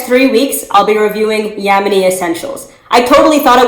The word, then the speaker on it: Ya'moni: phillips and as i mentioned the company is pronounced yemeni she is seven plus years natural and her